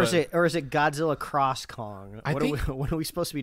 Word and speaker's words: Godzilla x Kong: I I just think I think the x is silent it's like that anime Hunter Hunter which is like but it says like Hunter x Hunter something so so yeah